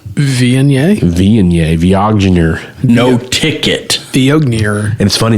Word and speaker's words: Viognier: It's pronounced Viognier.